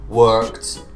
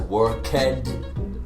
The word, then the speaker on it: worked: so it is work, worked, worked. Notice I don't pronounce it worked. Again, the pronunciation when it ends in a K, you add the ED, it's a T sound.